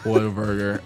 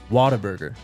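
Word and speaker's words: Whataburger: let's go my God he said it the right way he said what a burger I the honey butter chicken biscuits i' I'd lose my mind Jake why don't you tell Tyler how you say it waterburger I mean you're from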